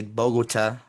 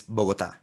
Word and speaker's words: Bogotá: right because um because in English uh you can say Bogota but in Spanish is Bogota so the pronunciation is different uh but it's okay